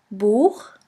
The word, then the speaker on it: Buch: After the letter A, O, U, and AU, it's pronounced like the guttural CH in the Scottish loch. Here we have the example of the word boek, which means book.